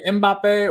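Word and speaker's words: Mbappé: so do you say mbappe or do you say B like I never know some people don't pronounce the m and I'm like huh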